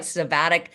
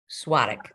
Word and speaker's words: Svatek: It looks like Svatek, but it's Svatek. Yes, Svatek.